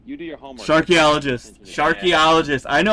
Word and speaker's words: Sharkeologist: We had to make an explainer video for our Instagram because people kept saying Sharkeologist, Nope. Sharkology. Mm-mm. Like, you do your homework. Sharkeologist.